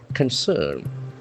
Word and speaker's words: concern: The first c is has got a hard c sound and the second c has got a soft s sound. Concern.